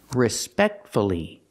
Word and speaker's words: respectfully: respectfully and successfully here we have two syllables before f l l y if you have two syllables and the stress is on the second syllable then PR pronounce the U respect see the stress